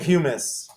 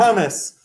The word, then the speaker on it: humus: see what we got humus i i'm saying humus i would bet stocks on it not hummus hummus is made of chickpeas it's like a